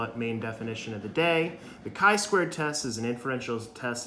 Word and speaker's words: chi-squared: refused to say hi he always called it the chai squared test and it kind of annoyed me so yeah do you nice to say it right but yeah so it's so the chi-squared test so another definition